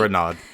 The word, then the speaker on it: Renaud: Renaud, but So Renaud. It's okay, but it's pronounced Renaud correctly. I go by Renaud because it's easier, and then you give me shit for both.